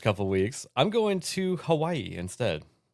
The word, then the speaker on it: Hawaii: I'm going to Hawaii instead. It's pronounced Havaii. Sorry, Havaii.